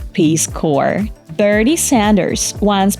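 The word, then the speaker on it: Peace Corps: in Social and economical Development worldwide exactly It's peace Core berd Sanders Once mispronounced the name of The state he was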